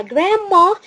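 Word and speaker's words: grandma: يعني الجراند بيرنتس هم فردين، يا إما جراندما يا إما جراندبا. خدت بالك إن أنا هنا الدي ما وضحتش نطقها، الدي هنا ما وضحناش نطقه. فنقول جدة يعني جراندما جراندما جراندما جراندما.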